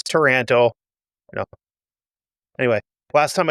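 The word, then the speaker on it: Taranto: of Toronto in Canada, but it sounds like if you were from Minnesota and said Toronto, that's how it's supposed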